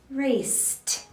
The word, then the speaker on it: raced: repeat a few times back and forth raised raced raised raised raised raced we raised a lot